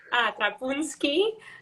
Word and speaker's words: Trapunsky: Thank you, Valerie Trapunsky.